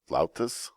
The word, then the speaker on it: flautas: I believe that's pronounced flautas, but they're fried tacos.